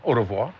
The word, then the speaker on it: au revoir: Au revoir.